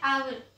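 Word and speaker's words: hour: Okay, now अब यहाँ पे है आवर। यहाँ पे है आवर, इसमें भी एच साइलेंट रहता है।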